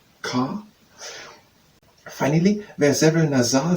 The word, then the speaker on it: car: They have in French R is always strongly pronounced at the back of the mouth. Therefore, car, because in French it's not pronounced the same way as the English word car, where this R is hardly heard, but as car, sa, car.